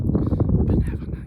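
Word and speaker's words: Binevenagh: Benevena, yes.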